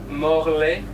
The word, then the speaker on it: Morlaix: How did you pronounce it? Morlaix. So Morlaix.